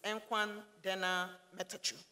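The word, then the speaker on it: እንኳን ደህና መጣችሁ: And for everybody else, is Enkwan Dena Metachu.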